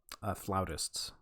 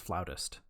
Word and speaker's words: flautist: Yeah, flautists, actually. Huh? What? It's pronounced flautist. Yeah, they don't play a flout; they play a flute. A flautist.